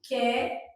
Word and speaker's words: quero: Quero, o U não é pronunciado. Quero.